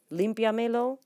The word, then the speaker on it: límpiamelo: 2, 3, 4 syllables, and your accent would go right here. Limpiamelo, because we added 2 pronouns, the me and lo, to the command limpia, clean. So clean it for me. Count back 4 syllables and place your accent if we have 2 pronouns. Count back 3 syllables and place your accent when you have only 1 pronoun.